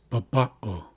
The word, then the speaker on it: baba'o: concise, it's cleaner, and now we know that it's pronounced baba'o. We can tell by reading either one of these where we place emphasis, and that's in the middle.